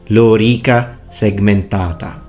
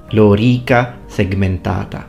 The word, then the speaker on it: lorica segmentata: you hear things such as lorica segmentata it's lorica segmentata lorica segmentata so in terms of intonation and vowel quality if you teach classical pronunciation to an Italian that's when you get